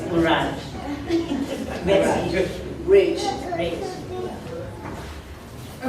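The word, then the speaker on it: Mirage: So mine is with Muraj. Not Murage. It's Muraj.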